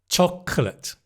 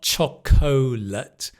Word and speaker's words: chocolate: Chocolate. So, it's not chocolate, it's chocolate. The cl chocolate clear. Clear.